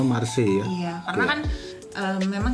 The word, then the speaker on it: Marseille: Bacanya Marseille ya.